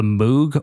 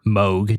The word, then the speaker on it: Moog: It samples A Part of Me by Country Funk, The Moog, or Moog, depending on how you say it, and me by Dick